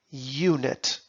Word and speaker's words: unit: onion --it of length look at the word unit it is spelled with the vowel U but listen closely unit it begins with a consonant sound so we need to